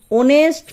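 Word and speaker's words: honest: এন এসছে এরপর দেখো কিছু ক্ষেত্রে এইচ এর উচ্চারণ সাইলেন্ট থাকে। মনে হয় যেন ভাওয়েল দিয়ে শব্দটি শুরু হচ্ছে। এক্ষেত্রেও কিন্তু এন বসবে। উদাহরণস্বরূপ দেখো। Sourav ইজঅান অনেস্ট person and always tales the truth.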